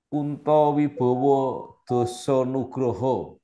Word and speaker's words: Kunta Wibawa: alumni UGM yaitu bab Kunto Wibowo sekarang adalah sekretaris jenderal Kementerian Kesehatan Republik Indonesia apa kabar Pak Kunto sehat selalu 30 November 1968 maka walaupun tulisan namanya pakai a pasti bacanya o Betul Pak ini pertama